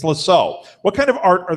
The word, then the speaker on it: Lascaux: Spell it. I know what they are. I just can't say it. Lascaux. Lascaux. It's Lascaux.